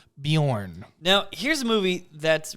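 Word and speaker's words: Björn: I think it's fine Bjorn thank you Vikings on History Channel for that lesson it is pronounced Bjorn now here's a movie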